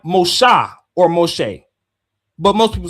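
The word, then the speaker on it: משה: They wouldn't say Moses. That's that's a Greek version. Mos Moshe because the Hebrew in the Dead Sea Scrolls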